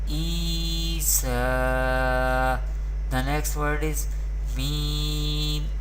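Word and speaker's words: عيسى: We pronounce vertical harkat by stretching up to one alif or two harkat, and ya madda we pronounce by stretching up to one alif or two harkat. We pronounce like this: Isa.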